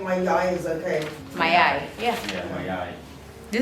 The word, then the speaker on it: mayai: Mayai.